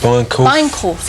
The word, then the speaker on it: Bijenkorf: We can't really pronounce Bijenkorf? Bijenkorf, yeah. Yeah. That's how they pronounce it.